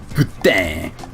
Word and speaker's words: poutine: Also, I don't care how it's usually pronounced in Canada because I'm American, so I say poutine. Deal with it. If I wanted to be French Canadian, I'd say poutine. Putain.